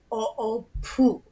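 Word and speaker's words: ʻoʻopū: If there was a line over the U at the end of that word, it'd be o'opu. So it's like more... The emphasis is on. Okay. Okay. Yeah. The emphasis is on the syllable.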